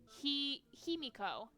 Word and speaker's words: Himiko: Himiko. Nice. Thank you. Thank you for the pronunciation.